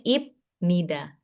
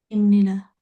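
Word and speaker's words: 입니다: Nah, kalau kamu bacanya satu satu gitu memang dia jadinya ibnida tapi kalau digabung dia jadi imnida.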